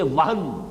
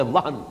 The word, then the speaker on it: وہن: صرف نوٹ کر لیجئے، وہن، ویسے یہ کہ تلفظ میں وہم جو ہے میم کے ساتھ، یہ چونکہ ہمارے ہاں عام طور پر لفظ استعمال ہوتا ہے، آپ کو مغالطہ نہ ہو، یہ نون کے ساتھ ہے وہن، اور وہن ہی سے